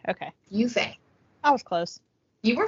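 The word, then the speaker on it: Yue Fei: How to pronounce. I love this website. Yufei. Okay. Yufei.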